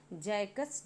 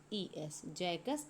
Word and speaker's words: Jacques: जो है French critic थे जिनका नाम था जैकस डेरिडा।